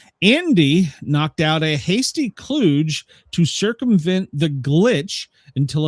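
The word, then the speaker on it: kludge: Cluge. A what? Cluj. K L U D G E pronounced cluge.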